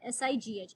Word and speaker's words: sigh: ये होता है साई, SIGH. इसका जो जी है, it is silent, sigh.